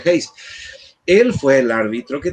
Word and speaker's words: Hayes: El presidente de ese entonces, Rutherford Hayes, para los paraguayos, Hayes, el presidente Hayes, pero el apellido se pronuncia Hayes.